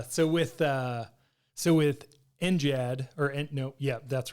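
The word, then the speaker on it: NGAD: the way it is we pronounce it with a soft G it's not next Generation air dominance it's six the Air Force will say and Gad for their kind of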